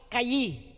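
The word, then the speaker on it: חי: Yung salitang life sa Hebrew word ay kayim o at kayi.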